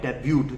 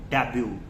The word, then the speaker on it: debut: Tiger Shroff did the debut from the movie Heropanti. Debut, that is absolutely incorrect. Never call it debut. This is called debut. T is silent here.